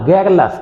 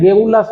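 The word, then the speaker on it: garrulous: बड़ बोला, गैरलस, इसका प्रोनाउंसिएशन याद है, गेरुलस नहीं बोलना है, गैरलस बोलना है, तो गैरलस।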